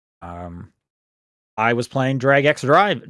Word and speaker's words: Drag x Drive: Um, I was playing Drag X Drive. Sorry, Drag and Drive is that is how you pronounce it.